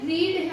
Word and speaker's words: read: So इसकी verb की जो थर्ड फॉर्म है, देखने में ये रीड है, लेकिन हम इसको प्रोनाउंस रेड से ही करेंगे।